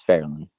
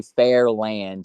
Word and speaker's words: Fairland: That's my hometown is Fairland. Don't say Fair Land either. Just say Fairland like kind of like Louisville. Yeah, Alex, say it right.